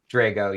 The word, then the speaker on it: Drago: want to make sure I have your the pronunciation of your name correct it's Drago Drago yeah okay I'm you may not get that